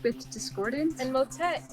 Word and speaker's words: motet: rhymes with discordance and motet is one letter away from hotel like Motel 6 which definitely brings to